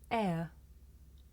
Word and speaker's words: air: It's pronounced air.